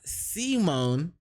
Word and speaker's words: Simon: Anyway, pronounced Simone.